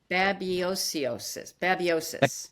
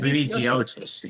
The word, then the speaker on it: babesiosis: we have, I'm in Connecticut, and the Northeast has a huge rise, and I'm going to mispronounce it. Babiosis. The BCOsis. Babesiosis, yeah.